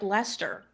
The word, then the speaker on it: Leicester: are like they're like why is Lester spelled like that but pronounced like Lester do you want to